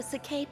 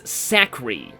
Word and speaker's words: Sake: Yes, this place is just like the Sake Plains. That's where I was born. I used to pronounce this Sakri. I don't know why I thought there was an R in it.